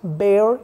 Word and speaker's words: bear: And another is bear. It's not pronounced as beer, bear.